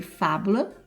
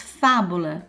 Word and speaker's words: fábula: Depois, fábula, ó, fá, proparoxítona. Você separa e é uma palavra proparoxítona, fábula.